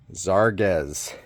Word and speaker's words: Zarges: Next, Zarz. That's how you pronounce it. It's Zar and then guess.